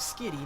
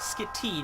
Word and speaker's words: Skitty: of the world no it's name is skitty not skit tea not skinny pronouncing the name wrong skinny hey steven give me